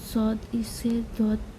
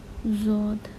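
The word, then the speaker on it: ض: कुछ लोग इसे डी के साथ प्रोनाउंस करते हैं, दौद, और कुछ लोग इसे जेड के साथ, जौद, दोनों करेक्ट है।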